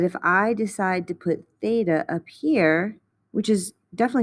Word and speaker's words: theta: or 90 degrees this greek symbol here is pronounced theta so just like we often use x's in algebra we often use theta to represent angles in trig the side across